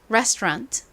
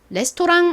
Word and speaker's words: restaurant: resturant 레스토랑 아닙니다. Resturant 자, 발음해 볼까요?